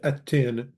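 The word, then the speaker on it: ܐܢܬܝܢ: You plural is atton for masculine and attin for feminine. Again, it's spelled anton and anten, but there's a batlana over the noon.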